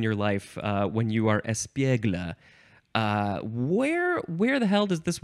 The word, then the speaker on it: espiègle: The first one is pronounced interesting. I think it is pronounced espiègle. Espiègle. And it is spelled E-S-P-I-E-G-L-E. There is an accent on the E in the middle that is up on the left and down on the right.